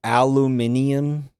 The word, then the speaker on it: aluminium: Aluminium. Why are you adding an extra fucking syllable?